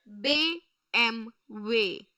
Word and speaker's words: BMW: German car brand so we are supposed to pronounce it in their way their Audi is AI they b m way b m way they b m way they